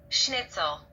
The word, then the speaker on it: schnitzel: and fried and this is how it is pronounced schnitzel schnitzel snitzel so Jagger snit let's see if I can